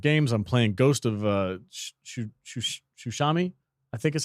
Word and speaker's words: Tsushima: I'm playing Ghost of Tsushima, I think is how you say it.